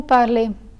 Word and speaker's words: parlez: As for the EZ ending, this letter combination is always pronounced as A.